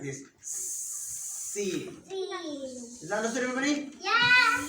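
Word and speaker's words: سين: So Sin is pronounced the same way as S. And how is S pronounced? Snake. Like S in snake.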